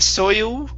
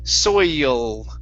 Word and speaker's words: soil: Okay, so instead of soil with an oo sound, it's soil. Soil.